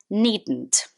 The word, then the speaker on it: needn't: that uh pronunciation well it's actually a contraction need not is needed and when you say that quickly the d from need kind of becomes really small so it goes needn't you needn't worry when